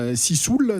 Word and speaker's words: Sissoul: Sissoul, ça se prononce comme ça.